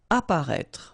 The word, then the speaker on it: apparaître: Apparaître. Okay, so exactly the same situation here with this circonflex. You don't pronounce it.